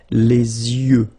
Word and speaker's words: yeux: Okay, you make this liaison between the two, les yeux. Okay, final X not pronounced, les yeux.